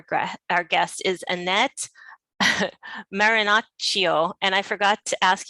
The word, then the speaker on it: Marinaccio: and today our gra our guest is annette marinocio and i forgot to ask you how to pronounce your last name that's perfect really is